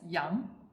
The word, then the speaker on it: 羊: For example, character 羊, which means sheep, was first created in pictogram and it's pronounced as 羊.